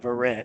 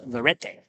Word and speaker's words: Verrett: You got Verrett. Of course, he's not checking on pronunciations, and he is Verrett.